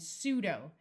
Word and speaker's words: pseudo: neuro which means brain and pseudo note that this p is silent pseudo means false but